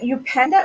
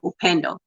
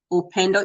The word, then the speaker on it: Upendo: Is it Upenda or Upanda? Am I saying it right? The best way to say it is if like Upendo. I say it Upendo. It's a Swahili word, or you can say Upendo.